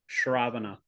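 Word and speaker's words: śravaṇa: the little slash above the S that's also pronounced shravana the two processes of shravana and kirtana are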